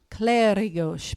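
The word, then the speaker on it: Clérigos: and then is the do you pronounce it claros claros because the accent's on the E claros Tower and church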